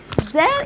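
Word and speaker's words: دال: Del in Arabic equal D in English.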